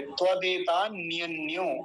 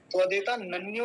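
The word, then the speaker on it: त्वदेतान्यन्यो: अब ये देखिए, त्वदेता न्यन्यो, पहले तो वो लोग समझ लें जिनको उच्चारण करने में बाधा होती है। त्वदेता नन्यो कहते हैं कुछ लोग, नन्यो, नन्यो नहीं, न्यो।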